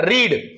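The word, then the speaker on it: read: असेल चला पुढे जाऊ रीड रीडचे चार रूप बघा रीड रेड रीड रीडिंग पण तुम्हाला एक त्याच्यामध्ये खासियत सांगतो रेड जो आहे त्याची स्पेलिंग सुद्धा आर एडी असते ठीक आहे चला आता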